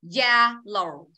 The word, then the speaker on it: yellow: Yellow. Yellow. Yellow. Yellow. Yellow. Yellow. Yellow. Được chưa? Mình không đọc là giết tới đây, yết tới đây nha. Không đọc yellow nha. Không đọc giết nha.